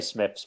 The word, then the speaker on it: Smythe: same um i'd say smith's but i can see where you're coming from with yeah yeah i'll say smith's as well it's a bit like the chuckle vision thing carrot carrington smythe pronounced smith thing if you can